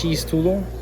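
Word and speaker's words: X-tudo: So, they have the letter X in the Brazilian language and the letter X is pronounced cheese.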